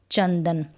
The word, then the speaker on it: चंदन: न है, तो यहाँ पर न का उच्चारण होगा। कैसे, चंदन। तो आ गया यहाँ पे आधा न।